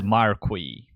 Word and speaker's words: Marquis: been saying the word incorrectly all along only to find out that I was in fact correct and it is Marqui.